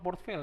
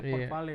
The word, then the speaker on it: Port Vale: Heh, ternyata bukan portfel ya. Baca Port Vale. Emang Vale bacanya. Port Vale.